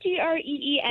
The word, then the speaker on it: Greeny: It's Greeny.